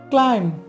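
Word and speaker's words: climb: মাথায় রাখতে হবে যে এম এর পরে যদি কোনো বি থাকে তাহলে বিয়ের উচ্চারণ হবে না তাহলে এটা দাঁড়াচ্ছে কি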